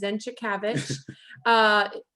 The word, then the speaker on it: Zenczykiewicz: So I'm so excited to introduce you guys to Anjay, and how to pronounce his last name is Zenczykiewicz.